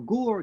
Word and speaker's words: Ger: Rabbi Yehuda Leib Alter Ger, this is about 130 years ago, in the Polish city of Ger or Gur, depending how you pronounce it, he brings a